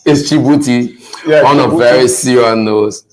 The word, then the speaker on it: Djibouti: And strangely, people are saying DJ Booty. DJ Booty. You know, that's the thing when it comes to pronunciation. Once people are not familiar with certain words, they want to break it down into syllables. So it's like someone saying Alif Banjo. So they want to put it in syllables. So it's DJ Booty. Yeah, DJ. No, but it's Djibouti on a very serious note.